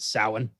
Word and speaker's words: Samhain: of character yeah well he's you know writing samhain on the board which as we know because we did the trick or treat episode is pronounced samhain silent uh but he's like pointing you know